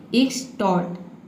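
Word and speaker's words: extort: एक नाउन भी है अगला वर्ड है इ टोट ठीक इसे हम पढ़ेंगे इक्स टोट इक्स टोट इ स्टॉट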